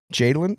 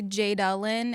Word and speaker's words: Jadelyn: stuff um we have Jadin is how I pronounce your name correctly Jadin a lot of people say jelin and I'm like it's Jadin yeah I can't tell